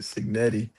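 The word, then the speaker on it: Cignetti: pronouncing it correctly? The mob boss. Yeah, that's that's it. Signetti.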